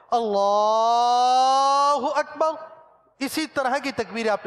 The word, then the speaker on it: اللہ اکبر: نظر نہیں آئیں گے، صحیح تلفظ کے ساتھ جو امامت کرواتے ہیں وہ لام کو ہی کھینچتے ہیں، اللہ اکبر، اسی طرح کی تکبیر